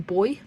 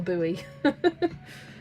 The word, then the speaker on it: buoy: thing you find in the seat is a boy. It's a boy. Oh, look. There's a boy swimming by that boy. It It's pronounced the same way. It's not a buoy.